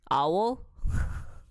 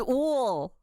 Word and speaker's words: owl: He forgot how to pronounce 부엉이, owl. Wool. He pronounced owl as ool.